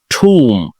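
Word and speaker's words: tomb: ঠুম, সমাধি, কবর।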